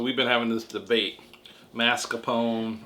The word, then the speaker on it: mascarpone: been having this debate mascarpone good job or marscapone americans pronouncing mars whatever anyway so we've